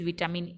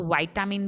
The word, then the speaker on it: vitamin: So spinach is very rich with विटामिन ए एंड विटामिन सी. हम विटामिन को वाइटामिन भी बोलते हैं, right. So both of the pronunciations are correct.